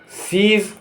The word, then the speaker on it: siege: IE इसका उच्चारण होगा ई, या EI लिखा होगा उसका उच्चारण होगा ई, तेजी से आएगी, लंबी खिंचेगी। जैसे BRIEF ब्रीफ माने संक्षिप्त। SIEGE सीज, सीज माने घेरा।